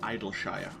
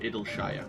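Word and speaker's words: Idyllshire: the settlements name the settlement is called idle Shire by it'll Shire whichever way you want to pronounce it and we are going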